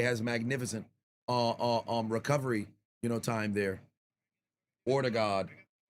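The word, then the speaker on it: Ødegaard: Ortegard, if you will, is how it's pronounced.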